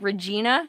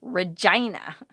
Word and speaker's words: Regina: right there's a town called what looks like regina in saskatchewan but it's pronounced regina will i ever come to canada yes i